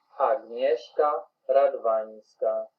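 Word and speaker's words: Agnieszka Radwańska: Agnieszka Radwanska. So that's how you pronounce her name.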